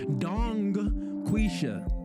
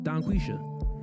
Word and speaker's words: Donquisha: Dong quisha. Yes. Do But if you say it fast, the G disappears. Donquisha.